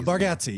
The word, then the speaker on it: Bargatze: No, Bargatze, you got it.